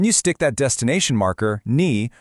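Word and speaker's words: に: It's pronounced ni.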